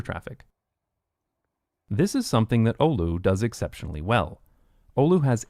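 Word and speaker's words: Oulu: Olu. I knew I knew I was pronouncing right.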